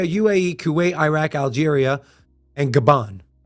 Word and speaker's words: Gabon: Kuwait, Iraq, Algeria, and Gabon. Or not Gabon. Gabon. I said it right the first time, Gabon.